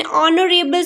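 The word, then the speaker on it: honourable: Letter पहला एच है, एच हैज़ हा sound is silent here, the word is ऑनरेबल, ऑ starting with the o sound and o is a vowel sound, that's why we will use an here, okay।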